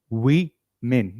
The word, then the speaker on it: women: How do you pronounce it? Repeat after me. Woman. Women. We men.